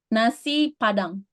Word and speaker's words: Nasi Padang: How can I pronounce that one? Nasi Nasi Padang.